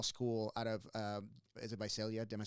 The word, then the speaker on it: Visalia: But coming from a small school out of, is it Visalia? Am I saying it right? Visalia.